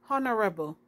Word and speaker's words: honorable: begin with an o honorable the h is silent because it's on like